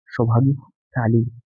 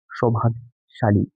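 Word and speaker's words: सौभाग्यशाली: देखिए अगला है आपका सौभाग्य ताली पहला जो है उसका उच्चारण है सौभाग्य ताली जबकि सही उच्चारण होगा सौभाग्य शाली शाली या नहीं ताली ठीक इसका अंतर है शा और स का अंतर है अगला देखिए अनुसूचित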